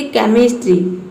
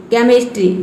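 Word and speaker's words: chemistry: एच आया है, इसमें एच जो है वो साइलेंट है। उसी तरह से यहाँ पे देखिए केमिस्ट्री, केमिस्ट्री, तो इसमें सी के बाद जो एच आया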